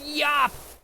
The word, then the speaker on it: Yop: been activated in chat it's pronounced Yap not yope thank you Halloween Yap